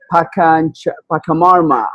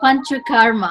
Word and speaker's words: Panchakarma: And she made Pakamarma. Am I pronouncing it correctly? It's actually Panchakarma. I know it sounds a bit like Pachamama, but it's Panchakarma.